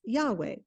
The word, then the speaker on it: Yahweh: name for God is rendered by the initials y h w h and which today we usually pronounce Yahweh and the word Yahweh